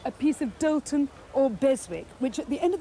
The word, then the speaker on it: Beswick: And when you're hunting for Beswick, pronounce it Bezic, which is totally wrong, and then everybody will think you don't know what you're talking about.